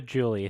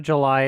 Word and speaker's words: July: I always thought it was Miranda Julie. Thank you. It's probably July, isn't it? Well, it's that's spelled how you exactly spell like July.